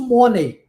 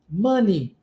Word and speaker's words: money: então lembre-se Man Ok se você vai para padrão linguístico do português você pronuncia isso mone como eu já cansei de ouvir só que a pronúncia é mone money por isso é que